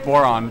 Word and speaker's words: Borond: I don't know how you pronounce that. I'm sorry, dude. It's just Borond.